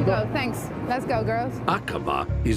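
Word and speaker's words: Aqaba: Is that how you would pronounce it? Yes, Akaba. That's right, Iris. It's Akaba in Jordan, 5.5 hours flying time away.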